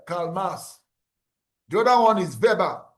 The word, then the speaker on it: Weber: The other one is Vber. It's not is pronounced Vber not Weber.